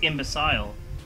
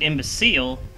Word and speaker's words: imbecile: pronounce it imbe imbecile that's how they pronounce it in Britain it's imbecile we pronounce it imbecile in North America I